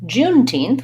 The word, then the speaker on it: Juneteenth: out that 9 and we have again stresses on teen Juneteenth probably the most challenging with about thinking about this word is how to pronounce the th at the end so you could try June teen or just try teen and then teen teen but I have that n and th together what happens is I